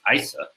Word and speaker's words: ISA: That's a lot of words because we often abbreviate ISA or even pronounce it as ISA.